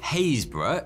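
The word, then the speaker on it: Happisburgh: In Haysborough in Norfolk, there's another. Why the holy piss is that pronounced like that word for you?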